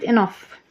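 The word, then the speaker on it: enough: المصدر في احوال اخرى كلمه انف جي اتش نطق اف لانها جايه في اخر الكلمه انف بمعنى كافي تو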